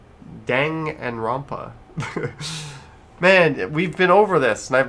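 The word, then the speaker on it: Danganronpa: Dangan Rampa. Dang and Rampa.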